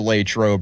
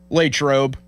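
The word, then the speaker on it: Latrobe: Lrobe It's just like Latroe is shorter syllables, so it's that I think that's why it sounds smoother.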